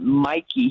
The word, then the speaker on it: Mikey: pronounced even though it's spelled like mickey he pronounces it mikey he's mikey weinstein and he he loves to go into